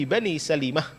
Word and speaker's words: Salimah: Semua kata-kata sin lam mim ta bacanya pasti apa? Salamah. Kecuali ini. Bacanya apa? Bani Salimah.